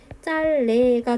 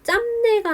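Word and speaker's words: 짧네: 표준 발음을 향해 가는 과정은 자음군 단순화를 통해서 비읍을 탈락시키고 그 뒤에 유음화를 시켜서 짤레로 발음하게 되는 거죠. 반면에 비표준 발음 같은 경우에는 지금 짬내가 나와 있거든요.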